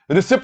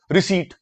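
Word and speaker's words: receipt: Pocket money, रिसीट, रिसीट, रिसिप्ट नहीं, रिसीट, P silent होता है। ओके मानसी बेटा जी, निधि बेटा, रिसिप्ट नहीं बोलते, रिसीट बोलते हैं, ठीक है सर, रिसीट कंसेप्ट।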